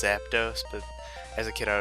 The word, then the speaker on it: Zapdos: Zapdos. I add an A. It's supposed to be pronounced Zapdos, but as a kid I would always say Zapdos.